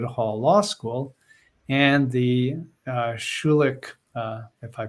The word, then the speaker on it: Schulich: studies at Osgood Hall law school and the Schulich if I pronounce that correctly School of Business Elle welcome